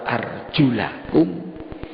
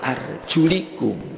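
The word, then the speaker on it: وأرجلكم: Yang ada yang baca, kalau kita bacanya, ada yang baca wa arjulakum, ada yang baca wa arjulikum.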